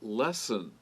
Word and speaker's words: lessen: Also, lessen, not the book lesson. Same sound, but it's spelled L-E-S-S-E-N, not O-N.